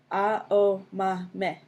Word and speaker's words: Aomame: for green peas, and pronounced with the same 4 syllables. A-O-Ma-Me.